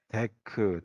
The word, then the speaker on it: deque: 그래서 이걸 갖다가 읽을 때는 데크 또는 덱이라고 읽어드리는데 이거는 구조가 이런 선형의